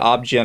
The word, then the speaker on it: OB-GYN: Are you saying that to be funny because it's pronounced letter by letter? I actually hear people say it Ob-Gyn all the time.